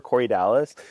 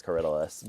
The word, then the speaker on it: Corydalis: At the nursery that I worked, we'd have people call and ask for Corydalis, and so we had this ongoing saga of Corydalis and how he had all these adventures everywhere. Oh. The actual pronunciation is Corydalis, but I think they're